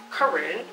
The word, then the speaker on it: Corinne: If y'all didn't know how to pronounce it, it's Corinne.